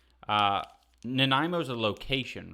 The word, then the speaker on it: Nanaimo: we're in Canada and you can try pronouncing that Nana naniamo it's Nanaimo that's how you pronounce that and I think it's